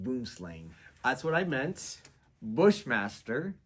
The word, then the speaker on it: Boomslang: which include Anaconda ASP black mamba black racer boom scan 6 it's pronounced boomslang that's what I meant Bushmaster coach whip constrictor